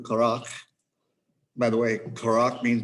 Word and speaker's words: Korach: Now, Korach is how you say it in Hebrew, Korach.